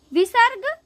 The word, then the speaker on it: विसर्ग: विसर्ग का उच्चारण ह की तरह होता है।